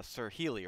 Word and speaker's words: SirHeley: to ask again to make sure i'm i'm pronouncing it right it's uh sir healy right yes okay all right correct all right